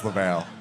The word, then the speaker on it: Laval: The Duke of Laval? Yes. That glorious soul. It's pronounced Lval.